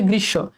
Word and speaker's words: গ্রীষ্ম: আবার দেখো গৃসব এই যে দেখো আমরা যদিও বলি গ্রীষ্ম এটা কিন্তু ভুল এটা হচ্ছে গৃসব এখানেও দেখ মফালাটা শেষে